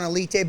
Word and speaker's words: Alite: he goes by johnny a light the correct pronunciation is john alite but americans we just it up dude is cool as elite is the cr is the correct pronunciation because